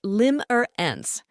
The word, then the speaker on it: limerence: first up we've got limerance it's a noun pronounced Lim or an like a romantic spell